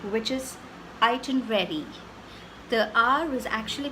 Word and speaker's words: itinerary: why I want to focus on the right pronunciation which is iton ready the our was actually pronounced in the right